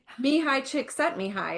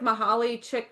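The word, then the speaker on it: Csikszentmihalyi: it so I had to learn how to pronounce his name. I was just about to say Mihi chick set Mihi. It looks like Mahal Chick or whatever something.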